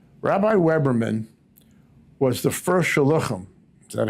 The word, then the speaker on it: shluchim: Rabbi Weberman was the first shluchim, is that how you pronounce it? Shluchim, yeah.